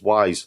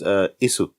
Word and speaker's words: Ys: Well, actually, I've been pronouncing it as Wise for years because I thought it was Wise, YS. And it's not Wise, it's not Ease, it's not Is, it's basically Is. In Japanese, it would be pronounced Isu.